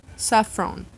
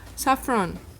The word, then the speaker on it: saffron: Açafrão em inglês, saffron. É só a gente não falar o A, né? Açafrão, saffron, ok?